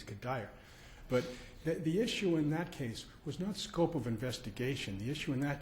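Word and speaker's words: Cuddyer: I call it Kadire because there's an outfielder for the Minnesota Twins whose name is spelled that way, and he's Kadire.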